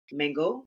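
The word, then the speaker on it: Mangot: into my own personality my last name is mango on France mango the tea is silent so main got I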